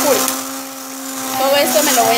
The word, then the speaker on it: Hulk: Ok, se pronuncia Hulk.